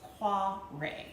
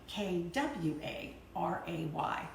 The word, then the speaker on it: Kvarøy: it yes it's spelled KVA ro why it's pronounced qua Rea like kwa RA Y rays of Sun so that's how we get